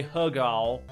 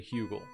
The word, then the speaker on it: Hugo: it's Simon Pike when Simon pack or Tim Hugo whose name is actually Tim hugel but I I just feel like when I say hug all it just gotta it's got a better snap